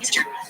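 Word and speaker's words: יששכר: The name is always pronounced Yisachar, with 2 sins.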